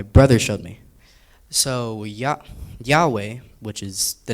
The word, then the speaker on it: Yahweh: So ya Yahweh which is the name of God in Hebrew is spelled Y HW no vowels and they pronounced it as a breath.